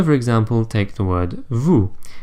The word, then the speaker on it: vous: example take the word vous it is spelled V o us but we don't pronounce the S at the end and yes this is